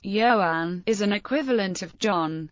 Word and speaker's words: Ioan: The Welsh name Joan pronounced Yoan is an equivalent of John and Gruff.